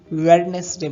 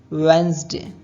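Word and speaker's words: Wednesday: Next word है बुधवार, जिसको हम अक्सर वेडनेसडे बोलते हैं, पर ये वेडनेसडे नहीं होता है। उसका सही प्रोनाउंसिएशन है वेंसडे।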